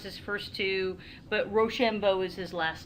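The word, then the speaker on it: Rochambeau: his own money another french soldier i can't pronounce his first two but roshambo is his last name c o m t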